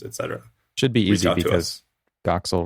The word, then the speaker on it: Doxel: Should be easy because Doxil rhymes with Troxil and that's the name of the show.